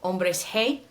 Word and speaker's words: Hombres G: Spain, and they're called Hombres Hey. And when I say hey, that's actually the way that you pronounce the letter G in Spanish.